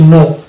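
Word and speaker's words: know: এরকম শব্দ হচ্ছে যেমন এটা কে এন ও ডব্লিউ এখানে কে সাইন থাকছে এবং উচ্চারণ হচ্ছে নো তাহলে নো এখানে কে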